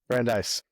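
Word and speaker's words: Brandeis: pronouncing the college right is it Brandis or brandise brandise okay you're the only Alum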